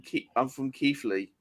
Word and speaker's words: Keighley: I'm from Keighley. Yeah. You Yeah, pronounce no.